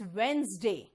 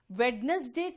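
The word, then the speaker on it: Wednesday: sound नहीं देता बेटा इट्स वेनसडे वेडनेसडे चलता है ठीक है टिंकू बिल्कुल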